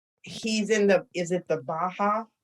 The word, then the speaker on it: Baha'i: He's in is it the Baha'i? How do you pronounce it? Baha'i.